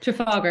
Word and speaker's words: Trafalgar: butcher the name but Trafalgar is that the way you say it Trafalgar yep oh okay Trafalgar Church sponsored it